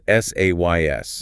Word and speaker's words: says: Yes, the third person is spelled s a ys. Yeah, but pretty much every native speaker pronounces it with the vowel from bed. It sounds like says.